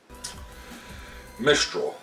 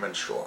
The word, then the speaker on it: Mistral: here um all right so Mistral why was I pronouncing it menstral I'm I apologize for